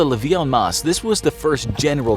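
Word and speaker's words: levée en masse: Called the levee en masse (pronounced leevy on mass) this was the first general draft in modern history.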